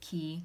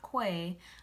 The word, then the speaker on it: Quay: key Australia sunglasses yeah that's how you pronounce it key not kwai I thought it was